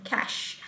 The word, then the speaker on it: cache: is about cache okay so this word you read it with the word uh with the pronunciation cash okay so this cash